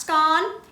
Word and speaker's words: scone: It's pronounced scone.